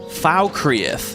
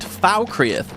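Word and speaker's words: Falkreath: Falkrith. He just said Falrith.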